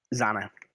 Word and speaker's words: Zana: Her name was Zana. And she was a brass dragonborn. It's Hannah with a Z. Yeah, literally exactly how it's spelled.